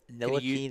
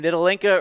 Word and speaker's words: Ntilikina: It's Ntilikina.